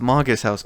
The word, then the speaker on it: Magus House: It's pronounced Magus House.